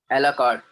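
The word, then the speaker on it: à la carte: Menu कार्ड मतलब उसका pronounce क्या आएगा? A la carte.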